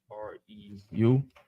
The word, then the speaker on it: Reu: How do you say that? R-E-U. Reu. Okay, Reu, I was right.